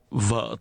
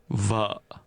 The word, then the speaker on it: vợ: Vợ tôi, Vợ tôi, vợ, vợ, vợ, vợ, vợ tôi. vợ tôi. In Vietnamese, the word for wife is pronounced with a low, falling, broken tone.